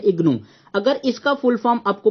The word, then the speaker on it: IGNOU: So first क्या लिखा है IGNOU, इसको हम रीड करते हैं, प्रोनाउंसिएशन करते हैं इग्नू।